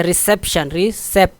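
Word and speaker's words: reception: अच्छा, रिसेप्शन, देखो रिसेप्शन, ठीक है, अब सेप दूसरे पर सिलेबल पर जोर, रिसेप्शन, ठीक है, दूसरे पर जोर है ज़्यादा।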